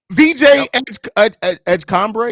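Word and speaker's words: VJ Edgecombe: VJ Edgecombre, is that how you pronounce his name? Edgecombre, yep.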